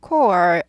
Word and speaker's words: court: 법원에서 판사님이 계시는 court, court 아니고 court, o 발음이에요. court, r이 있으니까 꼬부리죠. court, court, court, court, the court, court, court, court, court, court, court.